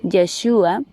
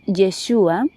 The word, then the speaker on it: Yeshua: Y nuestro maestro Yahushua, al que todos hemos conocido como Jesús, pero que su nombre en hebreo es Yeshua y su nombre en arameo es Yeshua, se pronuncia así.